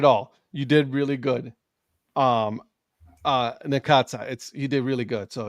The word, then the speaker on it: Necaxa: pronounce that name? Necaxa. Oh, Necaxa?